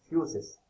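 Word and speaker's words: φύσις: Physics एक word से आया है जिसको प्रोनाउंस किया जाता है फ्यूसिस।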